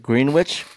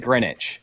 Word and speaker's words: Greenwich: to ask everyone else do you pronounce it green witch or Greenwich green GRE all day really well you East this man who says it grenwich who says it grenwich grwi just us two okay